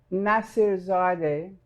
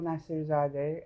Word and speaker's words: Nassirzadeh: It's Nassirzadeh, Nassirzadeh, and it's really not that difficult if you look at it and pronounce every bit of it.